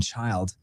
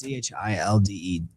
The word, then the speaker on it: Childe: Gordon Childe, or I think that's how you pronounce his name. Do you guys let me know? No, in the chat. It's Childe.